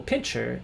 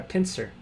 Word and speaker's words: pincer: you play R six white or black will pincher and make the ideal extension and pincher move or pincer Piner I apparently mispronounced pincer uh anyway don't tell anyone I'm